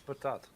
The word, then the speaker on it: patat: No, it's patat.